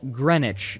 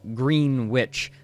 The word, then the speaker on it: Greenwich: their followers time cube first of all it's pronounced Greenwich not Greenwich this is another one of those things that